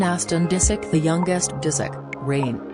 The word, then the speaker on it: Reign: disick the youngest disick rain pronounced like rain was born on december